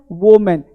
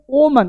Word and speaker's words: woman: अब देखो क्या है, ये बोलते हैं ओमन, ओमन नहीं, ओम, ये क्या पता है, वो मन, ये वो मैन नहीं है, वो मन, क्या है, वो मन, वो मैन, वो मैन नहीं, वो मन, वो मन।